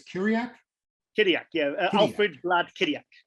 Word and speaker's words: Chirac: Kiriak. How do you say it? Kiriak? No H. Kiriak. Oh, well, told me off for saying it. Chirac.